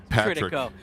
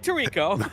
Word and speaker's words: Tritico: It's Patrick Tritico. Not Mike Tirico.